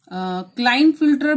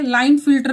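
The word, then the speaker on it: Klinefelter: बहुत सारे क्लाइन फिल्टर भी कहते हैं और के साइलेंट रख के लाइन फिल्टर भी कहा जाता है। दोनों प्रोनाउंसिएशन सही है। यस, दोनों भी प्रोनाउंसिएशन जो है सही है।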